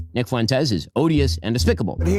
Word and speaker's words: Fuentes: Nick Fuentes. It's Nick Fuentes. Nick Fuentes. It's not hard to pronounce.